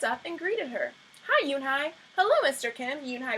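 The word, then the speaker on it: Unhei: turned to Joey she nodded slowly yes it's pronounced eun-hye and it means grace mr.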